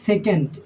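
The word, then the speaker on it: sec: সে এসই সি সে এটার বাংলা উচ্চারণ হবে সেক এবার ছয় নাম্বার যে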